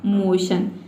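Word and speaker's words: motion: तो देखिए MO का हो जाएगा मो और TION को हम पढ़ते हैं शन, तो इस तरह से इसका प्रोनाउंसिएशन हो जाएगा मोशन।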